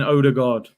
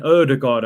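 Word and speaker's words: Ødegaard: martin odergaard martin erdogard i believe you pronounce it actually but you know me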